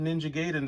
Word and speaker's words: Ninja Gaiden: He says, "You nailed Ninja Gaiden this time."